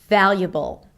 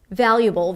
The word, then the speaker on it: valuable: Just like with "inevitable", we have the B sound, schwa and dark L: valuable, valuable.